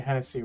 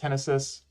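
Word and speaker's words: Henesys: right so I'm going to go back to Hennessy real quick I know I know it's pronounced henis um for whatever reason when I was a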